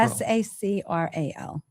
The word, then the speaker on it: sacral: Sacral. Therapy. Sacral therapy. How do you spell the second word? Sacral. S A C R A L. Sacral. Like your sacrum.